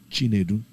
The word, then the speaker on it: Chinedu: If you say Chinedu, it means the God that leads. But my name that's just the short version of my name. The full version is Chinedumu.